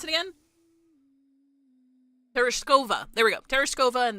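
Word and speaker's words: Tereshkova: The airtight door opens with a hiss, revealing Teros ter Oh, How do they pronounce it again? Terishova.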